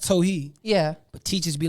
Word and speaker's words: Towhid: be saying it right but teachers because it's pronounced tohi yeah but teachers be like towel head jewel and i'll be like is that how you